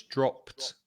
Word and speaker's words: dropped: Then the final ed is pronounced t, so it's dropped. Yes, it's like stop. It's the same as a stopped.